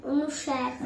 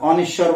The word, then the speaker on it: অনুস্বার: তারপর অনুসার, অনিশ্বর বলতাম, এগুলো আমরা জানতাম না।